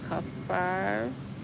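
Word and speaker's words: kaffir: Yes, kafar. Pronounce R at the end.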